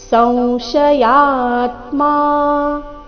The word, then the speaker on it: ಸಂಶಯಾತ್ಮ: ಶ್ರದ್ಧ ಧಾನಶ್ಚ ಸಂಶಯಾತ್ಮ ವಿನಶ್ಯತೆ ಸಂಶಯಾತ್ಮ ಈ ಶಬ್ದದಲ್ಲಿ ಅನುಸ್ವಾರದ ಉಚ್ಚಾರಣೆ ನಾಸಿಕವ ರೀತಿ ಸಂಶಯಾತ್ಮ ವಿನಶ್ಯತಿ ಆಮೇಲೆ ಆಘಾತ ತಿರಸ್ವ